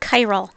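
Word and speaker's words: chiral: first we introduce this new word chyal it's pronounced like that chyal a chyal molecule is one that will be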